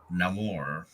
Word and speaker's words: Namor: but it's where we learn that name or pronounces his name Namor and I'll get to that in a minute